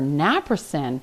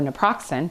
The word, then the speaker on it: naproxen: as a prescription for naproxen or naproxen, depending on how you say it, can be problematic.